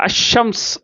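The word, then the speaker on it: الشمس: ஒரு முக்கியமான காரணம் அப்படின்னு சொன்னாக்க இந்த அஷம்ஸ் அப்படின்னு சொல்கிறோம், இது அல் கமர் அப்படின்னு சொல்கிறோம். அப்போ என்ன ஆயிருக்கு அப்படின்னு சொன்னாக்க இந்த அல் கமர்னு சொல்கிறதுல அல்லு வெளிப்படுது, அஷம்ஸ்ன்னு சொல்கிறதுல அல்லு வெளிப்படலை.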